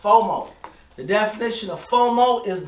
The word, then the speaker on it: FOMO: even more el fomo fomo that's how it's pronounced fomo the definition of fomo is the fear of